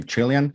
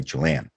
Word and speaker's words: Chilean: to find the word how do people pronounce chilean do people say chilean or chilean because if you look at the dictionary both actually exist but let's say yeah